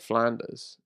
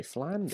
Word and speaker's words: Flanders: they were like, but how do you say Ned Flanders? I do interesting. you say Flanders? Flanders. Not Flanders. Ned No. Flanders would be mental. But you would say Flanders. Flanders, the place.